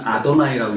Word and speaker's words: 아도나이: 글자는 여호와라고 써놓고 읽기는 아도나이라고 읽었습니다.